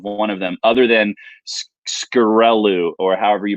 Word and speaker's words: Sciaccarellu: I think it's Sciaccarellu. Sciaccarellu, I think is how you pronounce that.